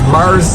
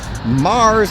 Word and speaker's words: MAARS: interesting on the outside called MAARS Pizza. Of course, Mars associated with aliens from outer space, like the planet Mars, but it's spelled M-A-A-R-S.